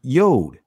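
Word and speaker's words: יוד: of the hebrew alphabet which is the yad in the israeli language is pronounced yod which this letter means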